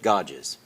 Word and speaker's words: Godzig: Let's go to our guest, Dave and Michelle Godzig. Did I pronounce that correctly? Pretty close. Pretty close. How would you pronounce it? Godges. Godges? Godges. Okay. Just don't look at it.